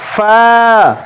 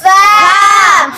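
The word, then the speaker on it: ف: মাগদুবি মাগদুবি তারপরের হরুফ ফা ফা ফা ফা ফা ফা ফার উচ্চারণ হবে নিচের ঠোঁটের পেট সামনের উপরের দুই দাঁতের আগা ফা ফা সামনের উপরের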